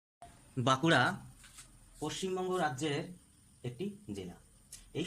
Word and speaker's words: বাঁকুড়া: নর পরিবর্তে এন ইংরেজিতে কিন্তু আমরা বানটা আমরা বাংলা উচ্চারণ করবো একটু নাসিক্য দিয়ে বাকুড়া